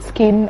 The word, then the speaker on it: Skzin: Yeah, it's SKZIN. Okay. The Z is silent.